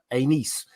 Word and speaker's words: Aenys: And obviously we have Aegon's oldest son, Aegon the Conqueror's oldest son, was Aenys. But I used to also pronounce that the other way, and so I've